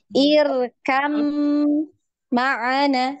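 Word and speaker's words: ارْكَبْ مَعَنَا: Jadi huruf ba-nya ini tadi sudah tidak dibaca ya. Tidak dibaca, langsung idgham kan, langsung diidghamkan ke huruf mim.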